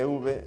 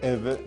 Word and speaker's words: Euwe: Miren, el golpe de Euwe, o de Euwe, que es como creo que se pronuncia correctamente, es majestuoso y muy incisivo, ¿no?